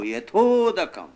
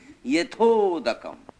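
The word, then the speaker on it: यथोदकम्: Yatha udakam, I and U became O. Yathodakam, pronounced Yatha udakam. Yathodakam.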